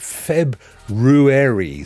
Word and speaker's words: February: his exclamation mark now Bjorn pronounces it February so he goes with the full R but I I'd struggle